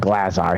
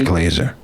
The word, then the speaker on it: Glazer: no hope of escape i heard you talking to glazar glazer i call him glazar he doesn't like you because i mispronounced his name yeah he told me it's glazer but there are three